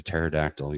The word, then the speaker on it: pterodactyl: Why can you not hear a pterodactyl use the bathroom? This one I would have absolutely no idea. Because he doesn't fit in one. Because the P is silent.